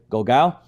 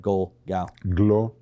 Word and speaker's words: Glogau: Glogau, and originally from Israel.